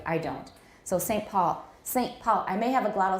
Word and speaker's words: Saint Paul: some pools some pools in british english some some polls this but i don't say it that way in america because i'm from a city called saint paul and nobody says some pole we say saint paul woman mayo it sounds